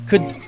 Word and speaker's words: could: Notice pronunciation, could, weak form.